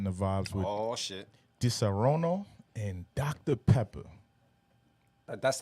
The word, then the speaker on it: Disaronno: Disaronno?